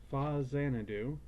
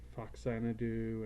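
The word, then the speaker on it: Faxanadu: But this one is called Fa Xanadu, and that's the actual pronunciation. Though I've heard it called Foxanadu and 100 other things I can't even say without getting myself tongue-tied.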